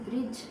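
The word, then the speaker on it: bridge: नो में के is silent, ब्रिज ब्रिज में डी इज साइलेंट, ऑनेस्ट में एज, ऑनर में एज एंड आंसर में डब्ल्यू, डब्ल्यू क्या है इसमें साइलेंट है।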